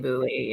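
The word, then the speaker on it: Boulley: angelene Bo bow I'm not sure how to pronounce it I need to look it up but um I listen boly Angeline boly Angeline boly perfect thank you you that's my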